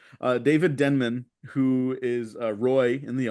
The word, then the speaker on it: Denman: David David Denman um I thought it was denim too oh I've been pronouncing that man's name wrong since I saw the office uh David Denman who is Roy in